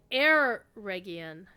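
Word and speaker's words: Eregion: we've always been saying Oregan he's like air region interesting and of course there's people that pronounce e region or a region so instead of ah it's more of an air air hmm interesting okay interesting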